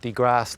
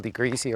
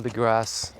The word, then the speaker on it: deGrasse: mispronounced the uh the uh astrophysicist uh Neil Degrass Tyson is the correct correct pronunciation of his name. I I think I called him Neil Degreasy or something like that. My bad. So Neil deGrasse Tyson excellent story of the CEO interview very inspiring.